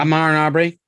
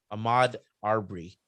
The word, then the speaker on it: Ahmaud Arbery: We also had the jury come in with a verdict for the how many pronounce his name? Amar Aubrey. Ahmaud Arbery case.